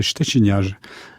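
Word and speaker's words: Szczeciniarz: Alors, à la polonaise, puisque c'est un nom polonais, donc ça se prononce comme C-H-T-C-H, c'est le ch. Donc ça fait Szczeciniage.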